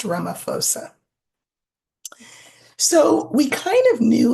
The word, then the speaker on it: Ramaphosa: It's Ramaphosa, pronounced Ramaphosa.